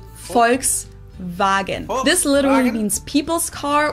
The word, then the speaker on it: Volkswagen: and not Volkswagen so just imagine that it was spelled with an f and V instead folks vagen this literally means people's